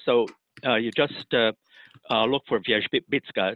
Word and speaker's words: Wierzbicka: And so you just look for Wierzbicka. It's spelled the way it's pronounced in Polish, but a little bit different in English.